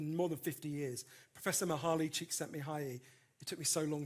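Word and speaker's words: Mihaly Csikszentmihalyi: studied them for more than 50 years Professor mahali chick sent me high e it took me so long to learn how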